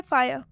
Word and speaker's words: fire: फायर।